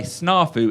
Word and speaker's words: snafu: and here it is and by the way snarfu is spelled s-n-a-f-u now what do you think they're